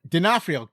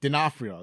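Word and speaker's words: D'Onofrio: I said oh okay Vincent denafo denafo God that's how you say his name I knew how to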